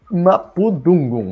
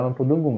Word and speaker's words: mapudungun: Lembra que é diferente do dungun. Por que é diferente? Porque essa língua faz diferenciação entre uma palavra que tem apenas 2 sílabas ou que tem 3 ou mais. Então é diferente do dungun, né? Não é mapudungun, é mapudungun, né?